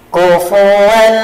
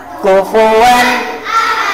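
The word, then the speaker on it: كُفُوًا: Nih contoh yang salah. Kufuan ahadun. Tidak boleh seperti itu. Satu kali saja. Kufuan ahadun. Coba kufuwan.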